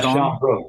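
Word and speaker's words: Sian Brooke: Sean Brooke, is that how you pronounce her name? Yeah, Sean Brooke, yeah.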